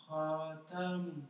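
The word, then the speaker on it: خاتم: Khatamun. Non. Alors j'ai entendu ra un moment, après j'ai entendu khata, après khatamun. C'est pas pareil. C'est ni ra, c'est kha, et c'est ni khata. Non, c'est khatamun.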